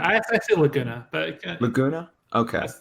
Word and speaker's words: Laguna: Laguna? I say Laguna, but Laguna? Okay, like Laguna Beach.